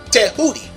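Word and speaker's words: Tehuti: the name th is the Greek transliteration of the Egyptian pronunciation Tudi and a house of Consciousness had a brother there named natural tah hoodi remember tah hoodi and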